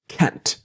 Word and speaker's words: can't: Always that strong t of can't.